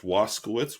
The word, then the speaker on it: Waskowitz: My last name is pronounced Waskowitz, which anybody who's Polish knows that's wrong, but that's how we pronounce it here.